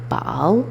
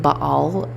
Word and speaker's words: Baal: And from what I remember, I think Baal just so happens to rhyme with a Hebrew word for like shit or flies.